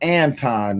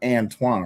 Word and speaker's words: Anton: I don't I got to I got to Yeah, y'all do know his name pronounced Anton, not Antoine, right?